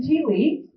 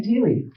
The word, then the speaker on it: Thiele: Please welcome Thiele. Thanks, everybody. I had to inform Julia how to properly pronounce my last name because it's often mispronounced as Thiele or Thiel, but it's Thiele. Good German name for those of you who are wondering.